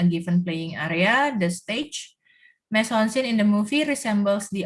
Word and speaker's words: mise en scène: Ya, Ini pronunciation-nya mise en scène, French theatrical term meaning, jadi dari bahasa teater, placing on stage, or we can simply state it as staging.